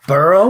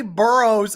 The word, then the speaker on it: Burrow: Cowie not in to burrow or you're gonna say burrows at least say his name right its burrow not burrows this is amazing this